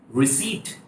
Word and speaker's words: receipt: Receipt, receipt. Check the spelling here. Receipt, receipt. Sour or sa. In American English we pronounce it sa, and in British English we pronounce it sour, sour.